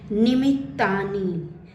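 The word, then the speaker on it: निमित्तानि: श्लोक संख्या 31 देखि डबल त है तो हम डबल त का ही उच्चारण करेंगे निमिता च पश्यामी विपरीता नि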